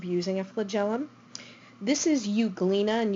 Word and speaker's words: Euglena: a flagellum this is euglena and you clean is spelled with an e so it's Eug le na this is an LG